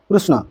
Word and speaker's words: কৃষ্ণ: কৃষ্ণ নাম দিছি কৃষ্ণ অর্থ আকর্ষ কৃষ্ণ সঠিক উচ্চারণ কৃষ্ণ কারাগ জন্ম নেই সেন্ত যশদানন্দ প্রেরিত হলে কৃষ্ণ